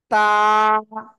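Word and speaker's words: ت: তা। সবাই জোরে জোরে বলেন। কোন জায়গা থেকে উচ্চারণ হয়? বা আগা, এই দুই দাঁতের গোড়ায় লাগান, লাগান লাগান, লাগে উচ্চারণ করতে হবে।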